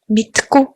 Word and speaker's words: Мэдэхгүй: Дөрөв дэх нь Мэдэхгүй. In spoken Mongolian, when we say it fast, it's pronounced as Мэдгүй.